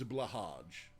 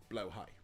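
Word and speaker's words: Blåhai: it's pronounced you know everyone reads A blah Hajj but it's pronounced blow High so uh and I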